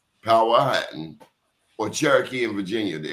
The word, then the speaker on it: Powhatan: You're either Saponi, Powhatan, and he corrected me, Powhatan, or Cherokee in Virginia.